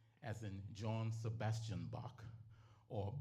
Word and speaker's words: Bach: And the song was entitled Bach as in John Sebastian Bach or Bach as in the island pronunciation for back.